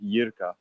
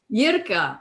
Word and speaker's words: Jirka: Yeah, but the pronunciation is like with epsilon, so it's like Yirka. Yirka.